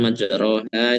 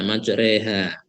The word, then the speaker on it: مجراها: Kemudian majroha itu biasanya dibaca imalah. Pak. Malah it. Nah, maju reha.